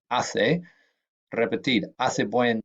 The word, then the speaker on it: hace: say a lot that's I say not hey snot ha say and remember the H is not pronounced here so it's I say repeted as a boy